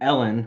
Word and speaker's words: Helene: I was mostly interested in seeing Ellen, which this shit blows my fucking mind. Her name is Ellen. She's an elderly French lady, but her name is spelled Helene.